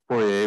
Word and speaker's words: Poirier: And is Tim Peter, how does he pronounce his name? Poirier, but his agent is Jim, P-I-T-R-E.